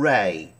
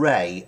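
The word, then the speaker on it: Rahe: m e s homes and ray r-a-h-e i think that's how you pronounce his name now they have done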